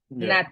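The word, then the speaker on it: nat: finger, and you say, "Not you, na na na na." Not you, na na, and I put the Antigua dialect in there. Not you, and it's spelled N-A-T, you.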